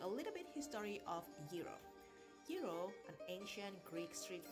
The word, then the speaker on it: gyro: food in many parts of the world giro pronounced yi euro in greek comes from the greek word the